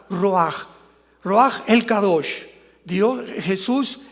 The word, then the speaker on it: ruach: La palabra para espíritu en el hebreo es la palabra que es ruaj, que se escribe ruach con ch, pero repito, se pronunció pronuncia como j, ruaj.